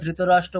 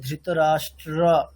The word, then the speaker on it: ধৃতরাষ্ট্র: আমাদের সংস্কৃতে কি করতে হবে, বাংলাতে আমরা ধৃতরাষ্ট্র বলে পালিয়ে যেতাম, এখানে মাঝখানে যে র ফেলাটা আছে, ধৃতরাষ্ট্র, র টয় র ফেলা, সেই র ফেলার উচ্চারণ স্পষ্ট করতে হবে।